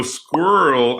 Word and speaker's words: squirrel: So squirrel, am I even pronouncing the E? You could make the argument that it's a one-syllable word or a two-syllable word, squirrel.